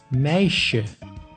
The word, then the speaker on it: meisje: S plus J makes sh, like in meisje, which means girl.